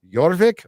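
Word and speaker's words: Jorvik: during the Vikings Reign uh yorvik pronounced yorvik oh see I did it right oh my God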